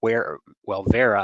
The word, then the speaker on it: Wera: is by a company called Vera, I guess it pronounces, a German company, WERA, and this is a double-ended but 4 different size bits.